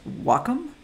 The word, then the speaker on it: Wacom: And did you know it's pronounced Wacom? I did not know that until I got to visit their fine offices out there in Portland, Oregon.